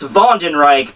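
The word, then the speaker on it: Wandenreich: first dagger is that Von and Reich is actually spelled with a W it's still pronounced ven Reich but has a w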